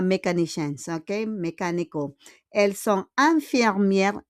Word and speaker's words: infirmières: Elles sont infirmières. IN is un. Parce que IN comme graphème, we pronounce it as un.